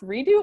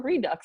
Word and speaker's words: Redux: And I kindly asked him, is it pronounced redo or redux?